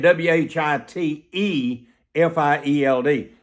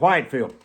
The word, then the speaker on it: Whitefield: You spell his name Whi T F I E L D, but it's actually pronounced Whitfield, not Whitefield.